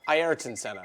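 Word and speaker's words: Ayrton Senna: Prix yep it's called eron Senna he's named it eriton Senna nice dude how sick is that it's or hold on hang on ieron Senna let me say it correctly first and foremost to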